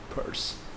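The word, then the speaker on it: Pirc: Perk? I think it should be like perk. Yeah, I mean, I always pronounce that like perk. Maybe I was wrong. Thank you, Trigger, for that. Purse.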